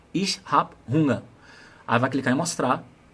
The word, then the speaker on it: Hunger: Eu lembro, acho que é ich habe Hunger.